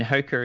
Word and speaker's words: Hoka: I mean, Hoka is the official pronunciation, but everyone knows what you mean if you say Hoka. So I go back and forth according to whatever someone else is using. Yeah. But Hoka One is the correct pronunciation.